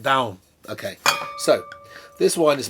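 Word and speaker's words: Dão: Okay, this is Ribeiro Santo, which is from the Dow, D-A-O, pronounced, I was once told, like dung, but it's not, down.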